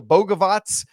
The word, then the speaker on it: Bogavac: at the two, Luca Boavatz and now we know that that is indeed the correct pronunciation because the roster guide came out this week at the three, Caleb